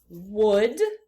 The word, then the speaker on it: would: if you need one that L right over here is silent it does not make a sound so this word is would read the next word